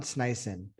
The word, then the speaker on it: Sneisen: honored today to be sitting down with john snyson actually that's that's how you pronounce that correct yeah that was correct actually